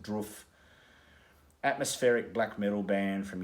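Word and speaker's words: Drudkh: love this band uh i'm pretty sure you pronounce it it's spelt d-r-u-d-k-h but i think you pronounce it roof atmospheric black metal band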